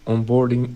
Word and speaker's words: onboarding: After reviewing on boarding analytic on boarding, I would say onboarding. So, I put the stress on the on instead of the board.